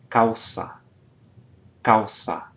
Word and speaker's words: causa: Causa, causa, a strong vowel, weak vowel, so single syllable.